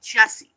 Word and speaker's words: Jessie: the story of course of of uh I'm not Aunt Joshy. I got you. Uh we're not I'm not I'm not Aunt Joshy. Okay. I'm Auntie Jessie.